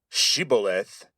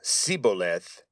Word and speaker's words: shibboleth: Being able to pronounce sh, being able to say shibboleth instead of siboleth would become a matter of life and death.